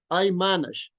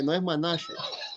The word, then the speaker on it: manage: So every time that you want to say this word is manage. Everybody repeat after me, please. I manage. I manage. Remember, okay, no lleva tilde, okay, no es manage.